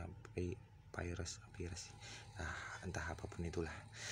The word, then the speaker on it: Pires: Bacanya ya Pires, Pires.